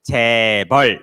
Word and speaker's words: 재벌: So in Korea is 재벌.